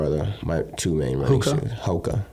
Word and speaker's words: Hoka: my two main ones Hoka is that how you say it yeah okay yeah I didn't even know that oh yeah I was calling them hookah yeah no it's okay like the hookah bar or whatever yeah yeah yeah well